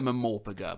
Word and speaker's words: MMORPG: You can pronounce it MMORPG if you like, I choose to call it a Mamorpaga before I get crucified for it in the comments.